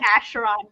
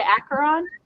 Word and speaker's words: Acheron: And but the closest is like Charon, like the fairy man, Charon, because they're basically spelled the same.